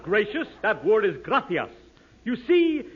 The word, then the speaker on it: gracias: Muchas, gracious, amigo. No, no, no. Not gracious. That word is gracias. You see, in Spanish, the C is pronounced th.